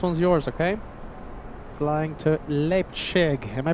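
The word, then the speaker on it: Leipzig: Flying to Lipchig. Am I pronouncing that correctly? Nine Gau 99. Leipchig.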